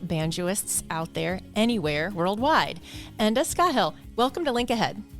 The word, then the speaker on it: Enda Scahill: teachers and acclaimed banjoists out there anywhere worldwide Anda skahill welcome to link ahead it's lovely to be